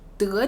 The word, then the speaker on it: 得: 跳得高，你看这些得加在中间的时候，发音就特别轻。